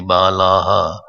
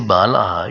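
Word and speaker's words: बालाः: When I say balaha, you should please put a visarg there for your. Because some people pronounce stay, they say like that. Even if I say bala, I hear some pronunciation. Bala stay. Half sa is a visarg, double dot, plug point.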